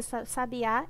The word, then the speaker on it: sabiá: passarinho é um substantivo e a palavra sabiá é uma oxítona então são três palavras